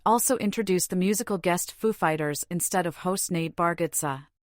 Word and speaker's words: Foo Fighters: of host Nate baratza Foo Fighters were the musical guest during his 2003 episode during which Dave gr pranked Walkin into speaking with the emphasis on Fighters instead of Foo clips of the introduction